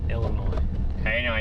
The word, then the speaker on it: Illinois: The guy that founded Washington, Illinois has 21 kids. Illinois. You got to know how to pronounce the state we're in, you know? Illinois.